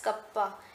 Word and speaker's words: kappa: इट is pronounced as कप्पा, KAPPA, pronunciation को कप्पा है इसका सिंबल का।